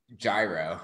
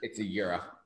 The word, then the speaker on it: gyro: but then I realized then I learned a little bit of Greek I was like oh that's the most ignorant way to pronounce that it's Europe Tim Robin says best